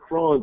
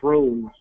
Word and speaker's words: Chron: But when we started getting into consumer markets, uh, we have a lot of people that don't pronounce it cron, they pronounce it crohn's as in Crohn's disease.